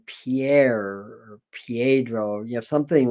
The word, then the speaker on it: Pierre: south dakota you know it's spell pierre but pronounced pier or or some reason